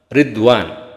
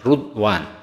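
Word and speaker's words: رضوان: Palilah kata-kata ridwan bikasri awalihi dibaca dengan mengkasrahkan awalnya. Berarti ridwan wadomi bisa juga dengan mendomahkan awalnya ruda, Ridwan bisa rudani ada dua bahasa jadi ada dua cara baca ya bisa ridwan bisa ridwan.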